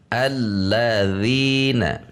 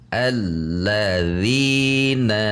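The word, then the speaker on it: الَّذِينَ: Contoh yang salah menekan, kita menekan dina misalnya. Alladzina, ngayun dina, maka menjadi tidak tepat bacaannya karena itu bacaan 1 harokat.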